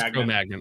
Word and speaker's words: Cro-Magnon: Oh, it is Cro-Magnon. Okay. I don't know if it was like filet mignon or Cro-Magnon.